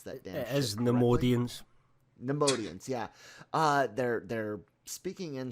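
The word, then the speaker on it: Neimoidians: I can't pronounce that damn shit. It is Nemoidians.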